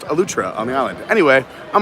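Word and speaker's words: Eleuthera: on a lutra uh spelled a lutheran but pronounced elutra on the island anyway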